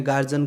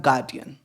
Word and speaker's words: guardian: कि भाई आप अपने गार्जियन को बुला के लाना है, तो एक्चुअल में वो गार्जियन होता ही नहीं है। उसका प्रोनाउंसिएशन गार्जियन का भी होता ही नहीं है, उसका होता है गार्डियन।